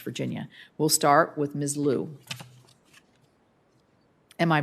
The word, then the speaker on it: Liu: Liu. Am I pronouncing your name correctly?